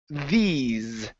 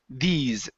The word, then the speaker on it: these: uh let's go to these with with a z sound at the end and we're going to use a long uh long e sound so it's these these issues these issue